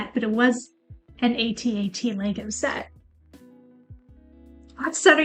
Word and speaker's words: AT-AT: I say ATAT. I don't say at.